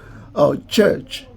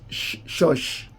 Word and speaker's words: church: Like, for example, now, if you ask them to pronounce church, you would rather pronounce church as shush.